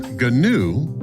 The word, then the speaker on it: GNU: GNU, pronounced GNU, stands for GNU's Not Unix.